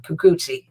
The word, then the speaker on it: Kikuchi: Jays, and that's 30-year-old left-handed pitcher You say Kikuchi. Again, with the pronunciation, Kikuchi.